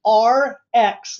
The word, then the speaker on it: ARIIX: the name RX and it's pronounced RX like the prescription drug and they always say